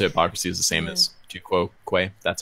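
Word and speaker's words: tu quoque: Yeah, appeal to hypocrisy is the same as tu quo quo.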